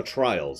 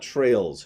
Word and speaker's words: Trials: and you're doing tricks no trials I'm saying it right I double-checked my reading it is trials it's it's actually some fun games some legitimate fun games and trials not trails trials yeah and don't